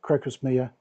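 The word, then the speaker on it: Crocosmia: Yeah, what you're looking around the corner is um is a cro crocus crocus mia. It's it's spelled like crocus with mia on the end.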